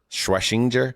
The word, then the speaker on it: Schwesinger: Uh the uh linebacker Schwashinger Schwashinger, is that how you pronounce it? That's a tough Yeah, he dude. Carson Schwashinger. Schwesinger.